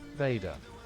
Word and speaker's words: Vader: It ended for me when Vada chopped off Luke's hand. I can't believe the voice chat just pronounced that as Vada.